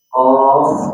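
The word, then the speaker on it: ق: Qaf wal Qur'anil Majid. Qaf itu maksudnya panjang harusnya. Harusnya 6 harakat.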